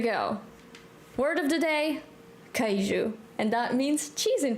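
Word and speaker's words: queijo: kou it's completely different cheese we call it kuu in Portuguese and it's spelled oh boy Q U EI i j o I think I said it right sometimes it's weird sometimes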